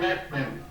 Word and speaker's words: led: Bacanya led. led bacanya ya. Led. Dipimpin oleh Roh Kudus. Led by the Holy Spirit. Ya, led by the Holy Spirit. Thank you. Bukan lead, kalau lead kita yang memimpin ya.